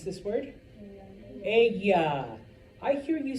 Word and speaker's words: ella: Ella. I hear you say Ella, you're like gonna lose 20 points right there. All right, because remember, two L's make a Y sound. Ella.